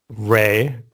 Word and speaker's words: Rhai: I worked on a Chaiscript-like thing called Ray, RHAI. So I just take wondering this. how you pronounced it.